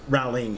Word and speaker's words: Rowling: the books that's something rawlings has added rowling has added i keep saying rallies and people are going to think i'm saying the name wrong yeah um but that's